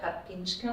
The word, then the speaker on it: Karpińska: And I will start a little bit with introducing Magdalena Karpińska. Sorry about the pronunciation.